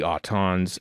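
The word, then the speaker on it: Aton: uh Terror of the autons episode 3 in three two 1 play uh one friend of mine his last name was well pronounced auton but spelled a t o n right and uh first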